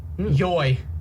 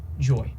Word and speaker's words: YOY: uh no WBY Holland yoy yo yo yo yo yo y it's supposed to be pronounced joy joy I don't know why